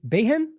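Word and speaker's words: Begin: one of the first Prime Ministers of Israel beegi how I what is it it's behen I don't know why I'm forgetting that right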